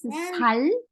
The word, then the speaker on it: 살: Okay, but when you pronounce 살, single 시옷, it becomes flesh.